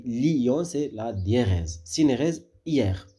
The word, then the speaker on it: Lyon: dit pas hier d'accord pour Lyon on dit Lyon c'est la dièse synérèse